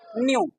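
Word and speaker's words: knew: न्यू कभी भी बेटा जब के के बाद एन होता है तो के साइलेंट जैसे एक वर्ड होता है कनल इसको सही मा बचपन में कभी पढ़ा करते थे यह सही माने में लिखा क्या है नॉलेज क्या वर्ड साइलेंट है के क्योंकि के के बाद क्या है एन है अब हमने लिखा के एनई डब् न्यू इसको पढ़ेंगे न्यू किन्यू नहीं पढ़ेंगे न्यू पढ़ेंगे अब इसको हम हटा देते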